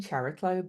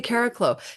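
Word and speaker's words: Chariklo: it Caraco um I I started saying cherlo but apparently the Greek is Carlo so people okay Caraco so Caraco and Ops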